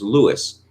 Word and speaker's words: Louis: we must now determine thomas mccauley refers to louis xiv as lewis this is not because he was ignorant but it was normal to anglicize french names at that time i remember being pressed